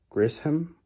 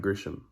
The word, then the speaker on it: Grisham: out and that's by john grissom i believe yeah no that's not how you say it's john grisham i believe all right that's